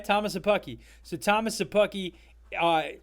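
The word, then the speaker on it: Szapucki: u c k i i have the uh pronunciation guide open thomas that's probably that's probably your best bet it's sabuki sure okay thomas a pucky so thomas sapucky uh right now for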